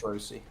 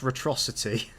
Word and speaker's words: Retrocity: Hello, It's- Retrosi. It's pronounced Retrocity. Where do you get those extra syllables from?